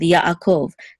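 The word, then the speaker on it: יעקב: same thing here with yaakov this iron we say it's a silent letter but if it if it follows a letter that has its own vowel we're going to separate the sounds also here so and here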